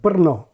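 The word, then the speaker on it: Brno: can't do vava or the Czech city of Burno written b r n o which has a stressed trilled R is that a vowel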